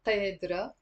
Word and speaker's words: قادرة: So notice here there is a قاف. So we're not gonna pronounce it قادرة or قادرة. I mean, some people in Lebanon, like the Druze, pronounce the qaf. But generally speaking, the majority of the people don't pronounce the qaf, and we pronounce it as a like that's why sometimes I represent it as a number two, the and قادرة means